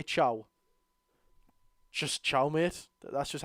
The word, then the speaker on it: Thiaw: I pronounced it Thiaw. Not like Thiaw. Like Thiaw.